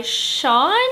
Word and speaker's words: Sjón: I then read Moonstone, The Boy Who Never Was by Sean. I think that's how you pronounce his name. It is S-J-O-N and he is Icelandic.